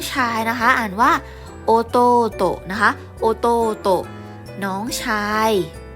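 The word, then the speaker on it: おとうと: ถัด ไป น้อง ชาย นะ คะ อ่าน ว่า โอ โต๊ะ นะ คะ โอโตะ น้อง ชาย น้อง ชาย เนาะ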